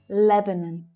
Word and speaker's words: Lebanon: The first syllable is stressed and the second and third syllables are unstressed. Lebanon.